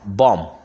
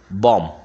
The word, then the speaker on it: bomb: after me yes okay come on bomb not bomb yeah yeah bomb yeah that not that yeah